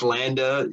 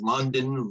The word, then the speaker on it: Landa: too girly and feminine nobody could pronounce landa i would get called london laundry london linda landis i mean you name it everything but landa i would get called